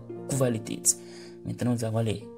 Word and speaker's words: Qualität: Voilà, Qualität, lorsque le Q et le U se suivent, ça se prononce Kv. Ce n'est pas Q, mais c'est Kv. Qualität.